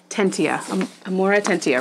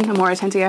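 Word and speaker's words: Amortentia: And the pattern, and I looked it up, I'm still probably going to pronounce it wrong because Hermione only says it like briefly, but it's the Amoratentia, right? That's the love potion, Amoratentia.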